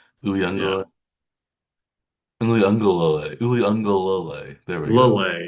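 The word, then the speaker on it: Uiagalelei: But And yeah, it's a little surprising too, 'cause there's more of an N sound in there too. yeah, there's like Ungale, even though there's no N in the name. Right. Uyunglele, Yeah. Uyunglele, Uyunglele.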